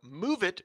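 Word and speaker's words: Moovit: News or not, Intel confirmed it plans to acquire the transportation startup MoveIt, which is spelled M-O-O-V-I-T, don't approve, which analyzes urban traffic patterns and provides transportation recommendations focused on public transit.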